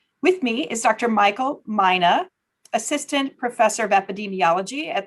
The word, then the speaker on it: Mina: It's Mina, like Minnesota, right? That's absolutely correct.